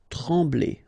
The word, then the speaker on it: trembler: Okay, same thing here, nasal, EM, okay, en, trembler, okay, no pronunciation of the M, trembler.